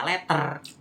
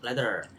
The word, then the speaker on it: letter: Jadi menjadi yang kalau kita sebagai orang Indonesia itu membacanya letter, tetapi di luar sana di Inggris atau Amerika itu bacanya letter. Jadi T-nya itu tidak terbaca jelas.